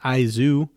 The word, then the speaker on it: Is: Yeah, it's eyes, but it's pronounced Izu because it's a play on words of I, which can mean love or sorrow.